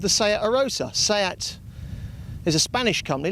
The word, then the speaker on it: Arosa: Here we are chugging along in our little 1-litre Seat Arosa, which is how they say it here.